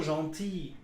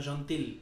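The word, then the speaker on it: gentille: এখানে দেখেন আবার এখানে যদি ডাবল এল ই ও থাকতো তারপরেও জন্থি উচ্চারণ হতো জন্থি বুঝছেন আপনি বলবেন না জন্তিল এটা বলবেন না বলবেন জন্থি দেখো ই এল বা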